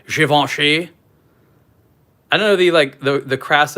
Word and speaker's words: Givenchy: I'm not really I have to say it the correct way. Givenchy. I don't know the crass American way to pronounce this is. Givenchy.